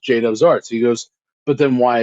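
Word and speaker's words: Judubs Arts: with pronouncing it so i told him it's pronounced jadob's arts he goes but then why is it spelled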